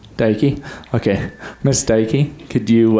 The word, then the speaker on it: Deike: um how do you say your last name daiki daiki okay miss daiki could you uh start with